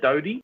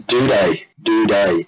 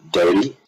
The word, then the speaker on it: Doedee: Tom Doedee, as it's pronounced, played his first game. Isn't it Doty? It's Doedee. I'm sticking with Doty. I saw you made a thread in Tom Doedee.